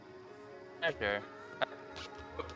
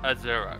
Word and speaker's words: Azura: Azure. Tell me if I'm getting that name wrong, because I think that's it. Azura, right. I always pronounce it as Azure for some reason.